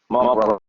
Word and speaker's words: brother: My brother else. Notice that the TH in brother is pronounced V and the TH in something is pronounced F.